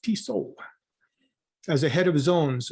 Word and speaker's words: Tissot: Prior to joining Tesla, he worked at Swiss watchmaker Tissot South America, pronounced Tissot, as a head of zones, Europe and Americas, where he was leading and coordinating global sales plans and strategy.